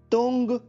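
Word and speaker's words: 东: इसकी spelling note कर लीजिए, TANG। एक बार फिर सुनिए, TANG। अब इसका ध्वनि वादन सुनिए, तुंग, तुंग, तुंग, जिसका अर्थ होता है पूर्व।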